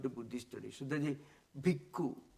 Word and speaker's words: bhikkhu: That is bhikkhu, bhikshu, that means the pronunciation. Ka is the Pali equivalent to ksha.